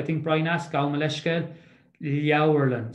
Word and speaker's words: Leabharlann: So that A-B-H, the Irish pronunciation is generally consistent once you're able to know the sounds that they make in the first place. So if you see an A-B-H, it'll nearly always be pronounced like Au, Leabharlann.